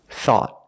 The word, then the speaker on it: thought: Thought. Thought. At the end, the tongue goes up and makes a stop T. Not thought, but thought.